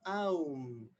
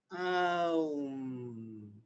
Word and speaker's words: Om: Entonces el primer sonido cósmico, el primer sonido creativo sería Om, que en verdad se desglosa Aum, Aum. Así se pronuncia Om.